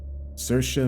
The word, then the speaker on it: Saoirse: “Saoirse (pronounced Sir-shuh) Maisey (pronounced May-see) Lovewood, 19-year-old streamer and model.